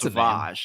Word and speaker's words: Savage: savager press Savage that's Savage yeah savager press is this like a Renzo mispronunciation or is that how you're supposed to it's Savage it's Savage Savage's brother